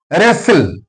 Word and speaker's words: wrestle: Wrestle. Here W is followed by R. That's why W is silent.